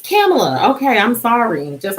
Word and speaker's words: Kamala: just can't do it although pamela harris is a cameler kamala or kamala i think i was saying it wrong all this all this time saying uh cam a little bit um or kamala i think that's what i was calling her everybody it's kamala okay i'm sorry just